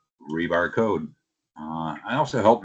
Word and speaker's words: RBAR: And yes, it is pronounced rebar with an e and you know it doesn't have an e in it or an a missing name or anything like that.